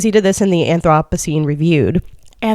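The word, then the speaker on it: Anthropocene: Um, fun fact, but um, he he did that in in this book and like you know um, anthrop anthroposine. Is that what how is it pronounced?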